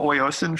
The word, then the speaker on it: Oyasin: And can you spell oiocin for people if they're trying to find that, or do you have a website for that yet?